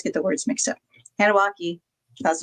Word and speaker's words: Anunnaki: Anunnaki.